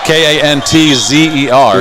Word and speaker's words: Kantzer: It's Cancer, but it's not spelled like that. It's Kantzer. Yes. So it's not like the big C, it's a K.